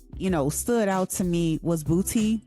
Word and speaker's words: BPOTY: Okay, my next track that stood out to me was Booty. I think I'm saying it right, but it's spelled BPOTY, featuring Too Short, and it stands for Biggest Pimp of the Year.